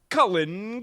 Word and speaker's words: Cullen: when who shows up but our favorite guy, Cullen Calyx.